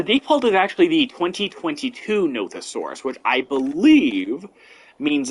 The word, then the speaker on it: Nothosaurus: another animal whose name I apparently mispronounced. Nothosaurus.